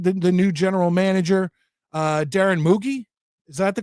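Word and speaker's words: Mougey: new general manager, Darren Moogie. Is that the correct pronunciation? I'm told it's like Loogie, Moogie, Mogi.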